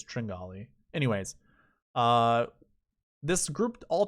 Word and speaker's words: Tringale: tringali and brian stewart i love when people pronounce this cameron tringelle it kind of kind of shows your knowledge in this golf industry so those listening it's it's tringale anyways uh this group